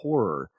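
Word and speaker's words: HO99O9: It's HO9909, but it's pronounced horror.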